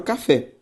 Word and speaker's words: café: por exemplo, da palavra café. Café é uma palavra oxítona, e por que ela é uma palavra oxítona? Ora, porque a sílaba tônica é a última.